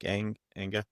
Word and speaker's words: Enge: And another thing I wanted to ask you about too, I was just at SMX Advanced and Eric Eng, is that how you say his name? Eric Enga? Yeah.